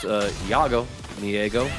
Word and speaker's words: JaggoMyEggo: It's pronounced JaggoMyEggo. JaggoMyEggo, like the German pronunciation.